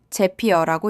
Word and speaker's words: Zapier: 제피어라고 읽습니다.